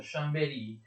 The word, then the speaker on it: Chambéry: La capitale viene trasferita da Chambéry, attenzione si pronuncia Chambéry, in Savoia, proprio a Torino.